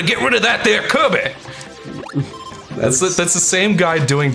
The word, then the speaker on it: Kirby: I'm sorry, you said it wrong. You think Korben. No, it's Kirby.